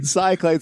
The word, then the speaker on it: Cyclades: Oh, wait. Cichlides. Yeah, you'd think, right? Cichlides. Uh, some people say Cyclades. That's right.